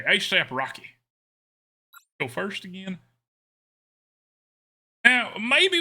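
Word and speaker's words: A$AP Rocky: the number of eight do you pronounce it or do you just pronounce the dollar sign as an S when I say that I could say a dollar sign AP Rocky or I could say ASAP Rocky oh okay ASAP Rocky so first again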